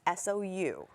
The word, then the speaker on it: SOU: It's SOU. SOU. Some people have a lot of troubles pronouncing it, but you know, Sal, this, that.